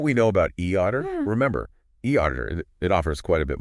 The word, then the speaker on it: eAuditor: And e auditor, pronounced e auditor, usually accounts for that.